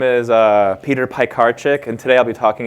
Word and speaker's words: Piekarczyk: Anyway, my last name is Piekarczyk, and an easy way to remember that is pies, cars, and chicks. And that's because I'm Polish, so it's technically pronounced Piekarczyk, but I won't hold you accountable for that.